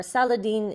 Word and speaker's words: Saladin: Yusuf IBN Ayub commonly known as salahuddin or Saladin if you use the English pronunciation was the founder of the ayuba dynasty